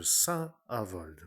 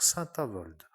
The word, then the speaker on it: Saint-Avold: être à cet instant dans un commerce de Saint-Avold, pour dire que certains critiquent à ma manière de dire que je dis toujours Saint-Avold, comme s'il y avait une sainte qui s'appelait